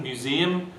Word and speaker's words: museum: Horizon, museum, okay, the final syllable z and are both light, so they don't get the stress once you've chopped off the final consonant. That's a light syllable. So the preceding syllable, which is heavy, gets the stress.